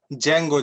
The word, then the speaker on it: Django: i will write it django django sorry d is highland yeah dragon why did silent yeah the uh d is silent so it'll be django unchained okay you wanna i